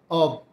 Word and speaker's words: of: এখানে যে ও এফ যে বর্ণ দুটো রয়েছে, পার্টস অব, অব হবে স্বরেও ব, আমরা এটাকে স্বরেও ফ উচ্চারণ করি।